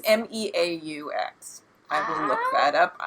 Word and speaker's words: Meaux: She wants to say it's Moo, because it's a moo cow cheese. It's Meaux.